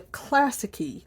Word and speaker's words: Classiky: This box is called the Classicy Box. And I'll show you how that's spelled because they have it kind of on the box here.